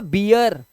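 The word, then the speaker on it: beer: आर आ जाए तो double E का उच्चारण इया हो जाता है ई नहीं होता अब इया हो जाएगा अब देखो ध्यान से ध्यान से देखो ये जो था ये बी था अभी जो आपने पढ़ा लेकिन अगर इसमें मैं आर लगा दूं तो ये हो जाएगा बियर क्या हो जाएगा बियर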